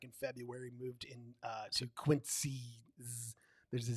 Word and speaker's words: Quincy: It's not spelled with a Z, but it's pronounced with a Z.